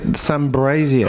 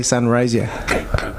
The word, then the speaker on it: Sunraysia: And he used to pronounce it Sunbrazier. I don't know why, but he couldn't say Sunrazier. Whatever. If you're out there, Sunbrazier. All right, it's not Sunraysia, mate.